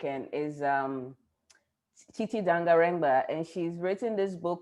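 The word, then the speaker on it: Tsitsi Dangarembga: Titi Dangarengba. Okay, Yes, okay, the maybe. first name is spelled Tsi Tsi.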